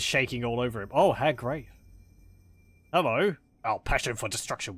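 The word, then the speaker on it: Hag Graef: I say Hag Grave. I think he pronounces it Hag Grief, so we'll go with that.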